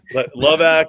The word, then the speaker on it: Levac: I thought it was pronounced Levac, guys. What are we doing? Levac is the right way, but as long as